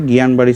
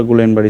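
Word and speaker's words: Guillain-Barré: ভাবে উচ্চারণ করা যায় এটা দুই জায়গায় দুই ভাবে গিয়ানবাড়ি সিনড্রোম বা গুলিয়ানবাড়ি সিড্রোম বলা হয় বা জিবিএস বলা হয়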